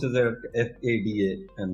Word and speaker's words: FADA: in deciding industry trends so basically uh we pronounce it at a that fada and not pada and this is an effects body for automobile